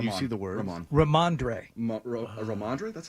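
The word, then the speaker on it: Rhamondre: Ramondre.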